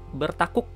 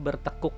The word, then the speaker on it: bertakuk: Bertakuk gitu ya. Tulisannya bertakuk ya, tapi pronunciation, pengucapan kita biasanya bertekuk gitu ya.